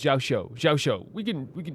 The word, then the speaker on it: Xiao: those things like I'm not very good with pronunciations all the time as you guys know, but it's it's Xiao.